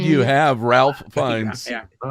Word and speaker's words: Ralph Fiennes: Have I been mispronouncing? You have Ralph Fiennes. Yeah. Oh, Ralph Fiennes.